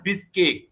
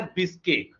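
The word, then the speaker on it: Bishkek: ज्यादा किर्गिस्तान जरूर पूछेगा इसकी राजधानी कहां है बिस्केक ठीक है ना आई इसमें से साइलेंट कर लो इसकी राजधानी कहां है बिस्केक ये आपसे पूछ सकता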